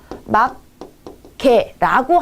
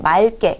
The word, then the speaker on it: 맑게: 그렇기 때문에 이왕이면 뒤에 기억이 남는 경우에는 기억이 두 번 겹치는 것보다 앞에 리을을 남겨주고 맑게 이렇게 해주는 게 더